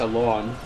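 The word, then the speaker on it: Alonne: an idea i'm sorry is his name sir alone you could pronounce it that way yes if it pleases your funny pun ideas yeah that i think it's i think it's a lawn well this is how you actually pronounce it yes yeah it looked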